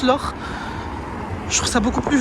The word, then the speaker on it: Loch: Parce que oui, ça ne se prononce pas Loch, ça se prononce l'or.